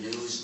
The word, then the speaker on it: gnu: it really funny is according to the dictionary the g is silent and it's pronounced new so every time you